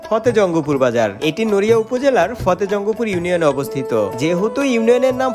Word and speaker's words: ফতেজঙ্গপুর: এই বাজারের নাম ফতেহ জঙ্গপুর হলেও শরীয়তপুরে যারা আছে তারা কখনোই ফতে জঙ্গপুর উচ্চারণ করে না। তারা কাগজে কলমে ফতে জঙ্গপুর লিখলেও তারা মুখে উচ্চারণ করে ফতে জঙ্গলপুর।